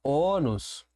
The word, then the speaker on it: ônus: O mesmo acontece com a palavra ônus, ok? Ônus vai receber sim um acento circunflexo, marcando aqui a tonicidade da sílaba. Ônus é a sílaba forte, é uma paroxítona terminada em S.